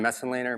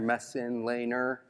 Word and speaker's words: Messenlehner: my name is mess and Lehner mess in Lehner four syllables I have no idea